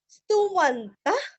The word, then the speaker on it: स्तुवन्तः: स्तुवन्तः, स्तुति का स्तुरस्व व अंत का त और इसका का उच्चारण हल्का सा ख, स्तुवन्तः, स्तुवन्तः।